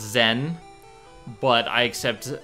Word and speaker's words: Zen: And to answer, it's pronounced Zen, but I accept Zenith, Zenith Warrior Princess.